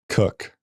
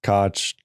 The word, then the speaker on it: Koch: It's a It's a good conclusion to come to if you're just reading a roster though, right? It's true. Okay, so remind me of his first name. Jacob. Jacob Co. Cook.